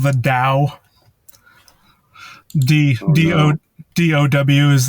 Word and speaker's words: Dow: And yeah, so in certain of the works, they're called the Dow.